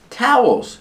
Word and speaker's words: towels: towels on the floor towels pronunciation Tau Ow like cow and how towels holes the second syllable has a dark l or with a tongue near the back of the